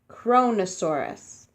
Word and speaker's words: Kronosaurus: of creepy all right you say it like this kronosaurus kronosaurus kronosaurus was a